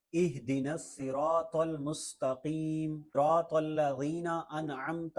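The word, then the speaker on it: اهدنا: ہے نستعین۔ اہدنا الصراط، ایدنا، ایدنا الصراط، یہ بھی نہیں ہے، ہا ہے، اور یہ جو ہا ہے دونوں آنکھوں والا یہ حلق کے سب سے نیچے والے حصے سے ادا ہوتا ہے، گلے کے نیچے والے حصے سے، سینے کے قریب۔ اہدنا الصراط، یہاں صاد ہے،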